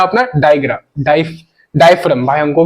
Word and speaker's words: diaphragm: डाय डायफ्राम। भाई हमको भी स्पेलिंग देख लेना, प्रोनाउंसिएशन समझना है। ये जो जी है, ये साइलेंट है। ये जी है, साइलेंट है। डायफ्राम बोलता है इसको।